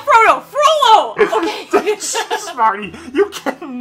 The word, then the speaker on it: Frollo: I think, not Frodo, Frollo! Okay. Jeez, Marty, you can never pronounce his name correctly.